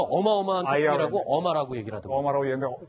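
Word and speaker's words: Irma: 어마인가가 발음이 좀 어마죠. 어마어마한 태풍이라고 IR. 어마라고 얘기를 하더라고요.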